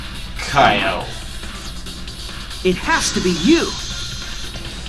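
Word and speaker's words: Kiyo: And its nickname is spelled K-I-Y-O. Kyo.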